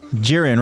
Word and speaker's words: Jiren: to uh I think I how do you pronounce his name jiren oh jiren right from the tournament of power Dragon Ball